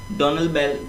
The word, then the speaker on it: Donalbain: डोनाबेल दोस्तों है ये डोनाल्ड बैन, ठीक है, डोनाल्ड बैन, यहाँ पर सही से प्रोनाउंसिएशन नहीं होता है, तो देखिएगा इसका डोनल बेल, ठीक है, इस तरीके से इसको बोल सकते हैं।